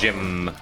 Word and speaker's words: Jimb: I hear it as Jim. It's a silent B, but it extends the M.